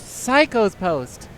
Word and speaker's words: Psycho's Post: going to be playing Cisco's Post or Seiko's Post. Psycho's Post. Is it's it pronounced Psychos? Yes.